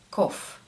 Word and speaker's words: cough: что все-таки GH бывает часто молчаливым буквосочетанием многие произносят его как Ван гоу Таф Что такое Таф второй звук меняется и мы говорим ков кофф - это кашель ков Ну и вангов или